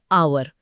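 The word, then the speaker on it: hour: जैसे honest man या आवर में एच अक्षर साइलेंट है। हां। तो ध्वनि वल की आती है। ऑनेस्ट और आवर।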